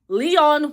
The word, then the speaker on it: Lyonne: And also shout out to Lyonne Raleigh, who I mispronounce her name every single time. I have to say Leon Kennedy from Resident Evil in my head to pronounce it right, because she put me